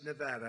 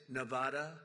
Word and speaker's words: Nevada: ever heard it and don't ever mispronounce the name you're not allowed to do that you you mispronounce the name you got to have problem you ever see somebody when they say it's Nevada Nevada oh they're they're in deep they're in deep trouble I I want to